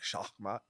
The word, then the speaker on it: Shakmat: It's the original uh word for it's the Persian word for checkmate. Ah, so shakmat checkmate rook for interest.